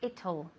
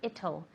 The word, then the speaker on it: it'll: I don't know if it'll. A lot of people have problems pronouncing this, so it's like Italy but without the Y. Okay, so you say Italy, take out the Y.